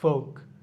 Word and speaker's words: folk: খাম, CALM, এখানে উচ্চারণটা মানে এলের উচ্চারণটা থাকতেছে না। খাম। খুদ, খুদটা আমরা পারি। ফোক, ফোক, FOLK, ফোক।